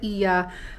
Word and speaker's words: Oia: crowded sa sa iya oya ako ng oya kasi nga yung spelling niya oya pero i yung pagbigkas sa kanya Iya is yung famous na